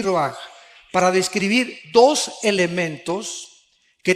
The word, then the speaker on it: ruach: Aquí se usa otra palabra hebrea, que se escribe ruach, con R de Raúl, A-C-H, se pronuncia ruach.